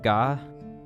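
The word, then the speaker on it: が: syllable starting with G the G sound is always pronounced as a hard G don't be tempted to pronounce it like a j I'll go through our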